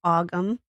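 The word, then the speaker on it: Ogham: It's not spelled like it sounds. Um, actually, I should just say Gaelic. Um, it's spelled O G H A M. So, it's auggum. And this is called an Aum stone.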